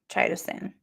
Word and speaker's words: chitosan: This is how you say that word. CHITOSAN. Somebody said CHITOSAN, but it sounded like I was saying something else. So I'm going with CHITOSAN.